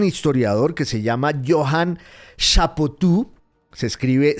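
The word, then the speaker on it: Chapoutot: Lo escribió un gran historiador que se llama Johan Chapotú. Se escribe c h a p o u t o t.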